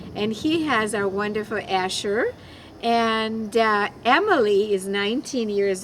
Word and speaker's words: Asher: And when I met Harvey, my last name, as you know by now, was Asher. And I had such a nice thick accent that I was pronouncing it Usher.